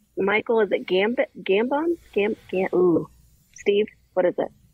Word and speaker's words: Gambon: Michael, is it Gambon? Steve, what is it? How do you say it? Gambino. Really? That's not right.